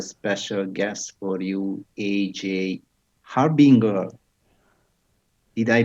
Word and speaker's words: Harbinger: we have a special guest for you aj harbinger did i pronounce correctly your name yeah thank you for